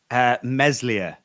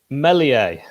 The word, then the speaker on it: Meslier: Meslier is the way I say it. Oh, that's what Nick said. Get out. How did you pronounce it, Hal? Meslier. I've heard people say Meslier.